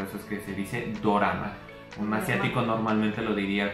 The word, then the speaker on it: dorama: que encontramos es que la palabra dorama es la pronunciación o la transliteración de la palabra drama en este caso que